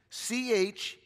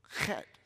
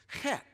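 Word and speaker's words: חית: Because in English, we would say Chet, but that's not how you say it. It's got to have a little guttural in it, but not too much.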